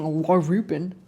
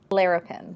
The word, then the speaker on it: Larapin: I keep saying Larupin. How do you say this? How do you correctly pronounce this? Larapin. Larapin.